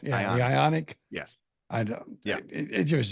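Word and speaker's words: Ioniq: not but the Hyundai how do you say it again ionic ionic ionic I ion like ion like like ion ionic ionic yes they have they have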